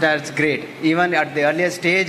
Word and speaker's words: GR8: it is pronounced as great even at the earlier stage I used to pronounce GR8 but it has to be pronounced as great Affinity Services LLP it